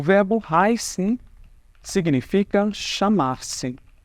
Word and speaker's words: heiße: E heiße, gente, essa letra aqui no alemão se chama SZ, tá? Não é um beta. É uma letra que é típica alemã e ela vai ter o som dos dois S's.